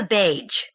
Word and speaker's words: beige: "Sort of a beige," Sylvie said, pronouncing the G as though it were in badge.